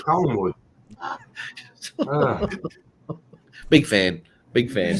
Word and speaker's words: Collingwood: I like Collinswood. Come on now. You can't even See what- say it right, mate. A Oh, mean- shut up. It's not Collingswood. Yeah, no, it's Collingwood.